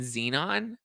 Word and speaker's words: Xenon: Galaxy Zeus and Zeno well Xenon is spelled with the Z not an X Ze Zazu no I